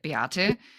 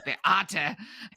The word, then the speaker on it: Beate: And my name, I think, gives it away a little bit, Beate. If you say it like my mother, it'll be like you're yelling at me. It'll Yeah. be Beate.